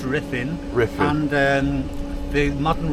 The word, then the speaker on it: Ruthin: Riffin riffin U in in Wales is pronounced I it's like the L is pronounced though.